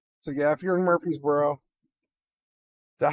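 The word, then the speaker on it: Murphysboro: So yeah, if you're in Murphy'sboro, is that how you say it? Murphy'sboro.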